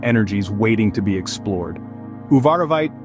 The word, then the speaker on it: uvarovite: you ever wondered about the magnetic pull of uvarovite the emerald of the garnet family this captivating stone with its vibrant green Hue holds a world of mysteries and energies waiting to be explored uvarovite pronounced as uvarovite is not just another pretty Stone its story